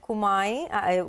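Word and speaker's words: Kumiai: Yeah, Sonia, so no mistake in pronunciation the name of the company. It's Kumai Chemicals, one of the largest customer, and definitely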